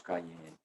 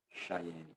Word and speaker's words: Cheyenne: de um indígena da tribo dos Cayenne, né, ou dos Cheyenne, como se pronuncia também.